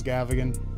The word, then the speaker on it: Gavigan: Which a lot of you have wondered how to pronounce Gavigan.